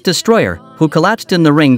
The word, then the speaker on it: Destroller: the unfortunate passing of death roller pronounced Destroyer who collapsed in the